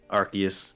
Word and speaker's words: Arceus: That's not how you say it. Arceus.